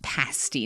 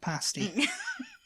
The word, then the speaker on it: pasty: we digress that yes the word is pronounced pasty not tasty just just retract your